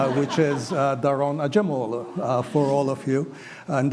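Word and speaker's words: Daron Acemoğlu: having sharing a common language, I can properly pronounce his name, which is Daron Acemoglu for all of you.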